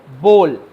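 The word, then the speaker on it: bowl: তারপরে বাটি ইংলিশ হচ্ছে বোল এটাও আমরা সবাই জানি স্পেলিংটা দেখে নাও বি ও ডব্লিউ এল আর উচ্চারণ উচ্চারণটা হচ্ছে বোল বল না বোল আর এই বোলের ভিতরে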